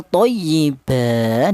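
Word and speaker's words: طيبا: Thyyiba tidak boleh utuh thayyiban. tidak boleh ya namanya iwat thayyiba seperti itu.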